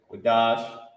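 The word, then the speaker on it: קדש: Qadash is a word that means, first let me show you how to pronounce it. Okay, Qadash.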